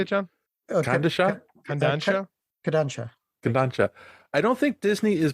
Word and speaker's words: Kodansha: Kodansha.